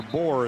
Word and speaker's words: Boore: Trevor Boore is how that's pronounced.